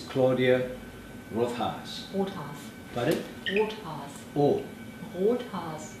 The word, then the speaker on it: Rothhaas: Now, I pronounce it correct. It's Claudia Rothhaas.